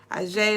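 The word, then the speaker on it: Aje: She is the daughter of Olokun, so she also goes by Ajay Olokun, but that's how you spell it, A-J-E.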